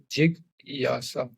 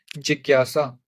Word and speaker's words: जिज्ञासा: For example जी का देखते हैं, वी राइट जिज्ञासा इज लाइक दिस, जिग यासा, ठीक है। तो हिंदी में इसको लिखेंगे, दिस इज जी, थोड़ी देर के लिए प्रोनाउंस करना है। This is नॉट ji, this is जी, छोटी ई की मात्रा है, जी, है ना। एंड देन ज्ञा एंड सा, ज्ञा सा।